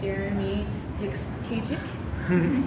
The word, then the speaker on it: Jeremy Hicks-Kachik: Once again, you're joined here with Tyra Snow, and I have Jeremy Hicks-Kachik.